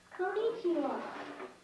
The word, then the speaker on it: konnichiwa: say it together me he he all together konichiwa what does it mean hello how do you